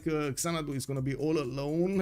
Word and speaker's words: Xanadu: Well, it looks like Xanadu is gonna be all alone, and I think it's actually pronounced Shanadu if I'm not mistaken, but anyway, it is what it is.